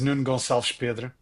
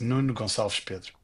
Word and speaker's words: Nuno Gonçalves Pedro: Oh, well, my name is Nuno Gonçalves Pedro. Nuno is a very Portuguese name, Gonçalves, I guess, as well. And so, yeah, that's the proper pronunciation of it in Portuguese.